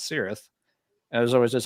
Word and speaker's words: Cirith Ungol: no it's uh yeah the band does pronounce it with the Soft C Sound and it's their band